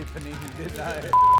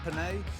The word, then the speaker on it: penne: what do you call it I did say Panini panae is that how you pronounce it penne huh penne penne and as imposter this one